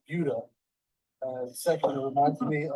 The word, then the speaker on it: Buda: Well, first of all, it's pronounced Buda.